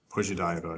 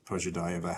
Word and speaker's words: Pozhidaeva: Pozhidaeva is is how I'm pronouncing it.